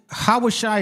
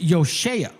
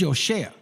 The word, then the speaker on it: Yoshea: Hawashai is not the way it's pronounced. It's Yoshea. It's Yoshea.